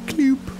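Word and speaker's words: Cyloop: I believe it's pronounced Kloop. Kloop. See how it turns into more of a square Kloop?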